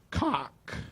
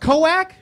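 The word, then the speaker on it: Koek: And I found a person on the internet named Steve Cock. I apologize. Coke. It's K-O-E-K? Coac? K-O-E-K is pronounced Coac?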